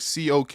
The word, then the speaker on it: Koch: So the pronunciation of Koch varies. Okay, just hold on. Just varies. But the German original sounds like COK with a guttural CH. That's like similar to Locke Koch. in Loch Ness Billy Monster.